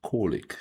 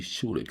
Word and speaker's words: Čolić: Okay, somebody told me how to pronounce uh the last name and I think it should be Shulik and not Coic. It should be Shulik.